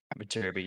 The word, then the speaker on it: Viterbi: How do you I pronounce guess this one? I have to wait. Viterbi. Viterbi, yep.